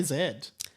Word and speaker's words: Z: z do you say Zed yes I'm a z guy Y and Z which is wrong is it well we say Zed but then for Gen Z say gen Z don't say gen Zed Americans say z z yeah so am I